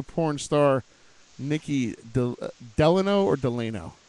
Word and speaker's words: Delano: spicy, sexy Latina porn star, Nikki Delano or Delano? How do you pronounce it? Delano.